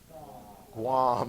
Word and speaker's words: Guam: Starts with a G, rhymes with mom. Guam.